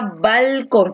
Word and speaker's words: balcón: Tú dices balcón, ¿no? Donde la fuerza de voz en quién está, está en con. A ver, vamos a realizarlo. Bal, una sílaba, con otra sílaba, ¿no? La fuerza de voz recae en con. Con es la última sílaba.